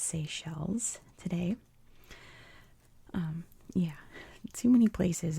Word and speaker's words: Seychelles: It's definitely pronounced Seychelles today.